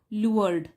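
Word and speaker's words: lured: इसको प्रोनाउंस करेंगे हम लअर। तो एल यू आर ई लुअर और डी लग गया लुअर्ड।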